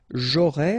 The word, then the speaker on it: aurai: J'aurai, remember, A and O together will produce this O sound.